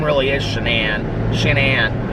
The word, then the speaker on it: Shanann: of the wife whose name i thought was shannon watts but apparently and so i thought like the narrator was like mispronouncing her name so it took place in